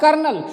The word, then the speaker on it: colonel: इसी प्रकार का एक शब्द है कर्नल, जिसमें रॉ का उच्चारण ऐसा सुनने से प्रतीत होता है कि इसमें आर होगा, लेकिन उसमें आर होता नहीं है।